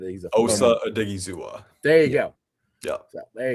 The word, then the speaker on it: Odighizuwa: He's a good Osa Odighizuwa.